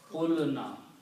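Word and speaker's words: قلنا: The sound of the waw is oo, which is the dhamma sound. So the sound is transferred on this letter here. So this becomes dhamma sound. So it becomes qulna.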